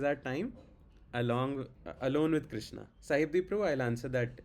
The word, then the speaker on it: Krishna: chant okay all the syllables should be clearly audible like hur krishna hur Hurry Krishna Krishna Krishna Hurry Ham Ham Ram H like Hrishna Hrish Krishna Krishna Hrishn don't do that okay okay every syllable